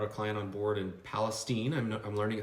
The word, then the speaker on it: Palestine: just actually brought a client on board in Palestine I'm learning it's pronounced Palestine right yes two two hours East of here